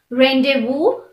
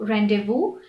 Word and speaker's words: rendezvous: is also never silent the only word that i can think of that has a silent z is rendezvous which is also derived from the french word which means a secret meetup so rendezvous has a silent set